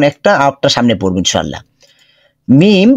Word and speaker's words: মিম: আরেকটা সামনে পড়বো ইনশাল্লাহ মিম ঠোঁটের বাহিরের শুকনো অংশ যুক্ত করে আচ্ছা এখন আমরা পড়ি